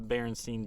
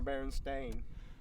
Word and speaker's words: Berenstain: So I personally love VHS, going back, watching, the Berenstein Bears, or however you want to pronounce it. Berenstein or Berenstain?